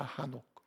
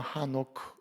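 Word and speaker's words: חנוך: 여러분, 이 에녹은 영어식 발음이에요. 한글로 이제 에녹 이렇게 되어 있는데 본래 히브리 원래 이름 발음은 하녹입니다. 하녹. 원래 좀 더 세게 읽으면 하노크 이렇게 됩니다. 하노크. 좀 줄여서 읽으면 하녹 이렇게 됩니다.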